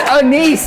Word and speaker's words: anise: Apple, anise, artichoke. Okay. Apple or artichoke. Anchovi and asparagus. Look, he didn't even say it right. It's anise, not I don't even know what that mean.